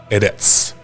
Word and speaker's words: eretz: The Hebrew word for earth is pronounced eretz.